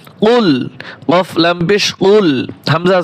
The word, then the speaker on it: قل: قل أعوذ برب الفلق قل أعوذ برب الفلق কফ লাম পেশ কুল, বড় কফ দিয়ে বলবেন, কাফের মতো যেন না হয়। কুল কফ লাম পেশ কুল,